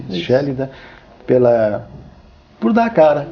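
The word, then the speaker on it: Schellida: Pronuncia-se Shélida, por dar a cara.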